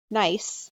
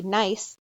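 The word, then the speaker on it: gneiss: two types of rock nice which is starts with a G but is pronounced with a silent G nice sample - in quartzite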